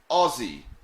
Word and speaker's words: Aussie: this aussie aussie so you pronounce it like o zed-zed-y ozzy ozzy and warwick said i